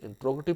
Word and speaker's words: interrogative: तो याद रखिए कि इंटेरोगेटिव नहीं होता, जैसे इंट्रोगेटिव, इंट्रोगेटिव प्रोनाउंस करते हैं इसे, इंट्रोगेटिव सेंटेंस।